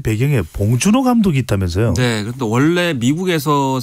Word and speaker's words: 봉준호: 위해서 자랑스럽지 못해서 이제 그렇게 하는 측면이 있었는데이 봉준호 감독의 아카데미상 등의 수상이 이걸 완전히 바꾸게 했다라고